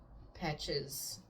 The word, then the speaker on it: Petsch: Anyway, yeah, so I think Madeline Petch's, I don't know how to say her last name. It's Petsch. So I imagine it's Petch. Kind of sounds like peach in French.